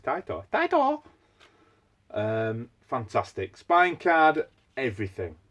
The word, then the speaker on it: Taito: So, like we say, that's how you pronounce it. Not fucking Tato, it's Taito.